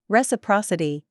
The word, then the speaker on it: reciprocity: multiplied to produce one reciprocity with the accent on the third Cy able between two Nations means